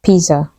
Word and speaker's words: pizza: to our next word this word is not pizza or pizza it is pronounced Pizza the Z gives a sound Pizza